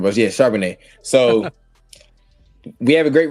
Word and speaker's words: Charbonnet: I pronounced his name wrong, but yeah, Charbonnet.